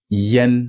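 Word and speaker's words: yan: very rare situations where the a in Chinese is pronounced like the e in tent Yen this is why it's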